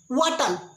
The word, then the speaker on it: what'll: वाटल, वाटल, वाटल, व्हाट विल, व्हाट विल। यच को प्रोनाउंस नहीं करते।